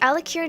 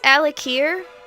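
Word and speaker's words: Alik'r: of trivia we pronounce al akir that way but it's weird because we're putting the emphasis on the apostrophe al akir there is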